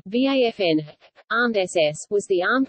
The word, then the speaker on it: Waffen: The Waffen-SS German pronunciation, Waffen, armed SS, was the armed wing of the Nazi Party's SS organization.